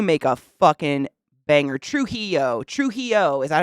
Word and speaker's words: Trujillo: Trujillo. Is that how you say it? Trujillo. I said it right like the third time.